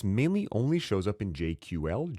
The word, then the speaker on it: JQL: This mainly only shows up in JQL, Jira Query Language, or if you're pronouncing it properly, JQuil, but it allows you to quickly sort work items.